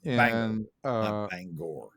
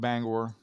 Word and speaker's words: Bangor: Not Bangor. Banger. What's that? Banger. I prefer to call it Bangor. Okay, you go ahead. Yeah, I like the full pronunciation.